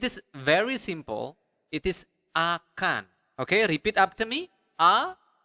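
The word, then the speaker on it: akan: in Bahasa it is very simple it is aan okay repeat after me a aan okay so aan so will is aan okay so that's remember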